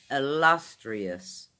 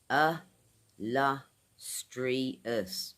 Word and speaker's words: illustrious: I get a kick out these big words guys illustrious four syllables an Adjective ih-luhs- tree-uhs ih-luhs-tree-uhs now what this means?